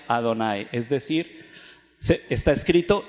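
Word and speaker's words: Adonai: era un rabino decía está escrito y h no más y se pronuncia ado nay es decir se está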